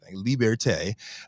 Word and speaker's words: Liberté: That's how it's pronounced. That's what he said. Liberté, to address what they say is a gap in the market and that's begging to be filled.